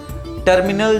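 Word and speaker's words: terminal: टर्मिनल जो होते हैं, डिफरेंट टर्मिनल्स होते हैं कई एयरपोर्ट्स पे, टर्मिनल 1, टर्मिनल 2, ठीक है। तो टर्मिनल को बोलते हैं अल टर्मिनाल।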